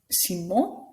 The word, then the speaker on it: Simon: Notice again, that's right, the last letter isn't pronounced. Simon, Leblanc, Girard.